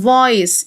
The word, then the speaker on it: voice: صوت يعني voice، الإي لا تنطق.